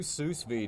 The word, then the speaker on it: sous vide: All right, we'll do sous vide. Did you say sous vide? What's sous vide? How's it pronounced?